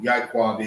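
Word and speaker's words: יעקב: You don't know who Ya'iqab is. Ya'iqab is how it's pronounced, is Jacob.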